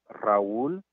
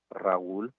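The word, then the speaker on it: Raúl: aka raoul the third my name is sometimes difficult for some people to pronounce because it means that you have to roll your r's and that's done by rolling your tongue towards the front of your mouth like this if you can't do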